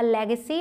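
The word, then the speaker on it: legacy: She left us अ लेगेसी ऑफ $1 million. बहुत ही आसान है, लेग सी, लेग पैर के लिए जैसे लेग बोलते हैं, बस सी उसके बाद लगा देना है।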